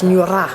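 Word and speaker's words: ngungura: g u n-g-u-r-a and there's no little retroflex or little line underneath the r and so that tells me that it's like a scottish r so it's neura it's a roller so they had to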